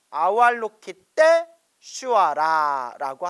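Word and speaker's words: अवलोकितेश्वर: 관세음은 인도 산스크리트어로 아발로키테 슈아라라고 부릅니다. 아발로키테 슈아라. 자, 어렵죠? 그래서 저도 아발로키 떼슈아라라고 우리가 흔히 그냥 습관처럼 발음하는데 엄격히 이제 문장의 단어의 발음을 끊어치면 아발로키테, 아왈로키테 슈아라라고 한다고 합니다.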